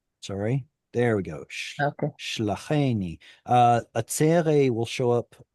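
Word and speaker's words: שְׁלָחֵנִי: It's shlacheni, not shlachani, shlacheni. Sorry. There we go. Okay. Shlacheni.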